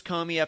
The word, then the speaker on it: Comey: 15 minutes of James Comey FBI directed his c ome why that is how you pronounce his name there's still a lot